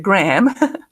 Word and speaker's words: Graham: Okay, he says, Graham, que es el nombre que se escribe Graham, pero se pronuncia Graham.